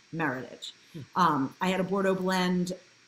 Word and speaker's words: Meritage: Bordeaux blend it's called Meritage Burnett pronounced like heritage Meritage I had a Bordeaux